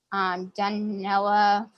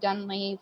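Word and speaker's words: Dunnellon: Rainbow Springs is up in I always pronounce it wrong. Dunella, Florida. So it's from Winter Haven to Dunley, Florida.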